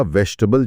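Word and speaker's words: vegetable: हाँ, या वेजिटेबल लिखा 4 सिलेबल का जाता है, वेज जी ट बल, पर बोला वेजिटेबल जैसा जाता है 3 सिलेबल में।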